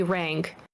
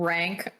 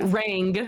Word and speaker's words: Raeng: you can call me Rang, and it's spelled Raeng. You said rank, like you can call me rank. I was like, oh, okay. You can call me Rang with a G at the end.